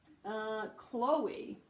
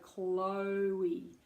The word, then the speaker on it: Chloe: Now this can be tricky because phonetically you have a k. This is how we'd write it in phonetics. Not it's not that I just can't spell. A k and an l together, and then followed by o.